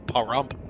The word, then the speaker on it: Pahrump: Pahrump, Nevada. Pronouncing that correctly. Pahrump.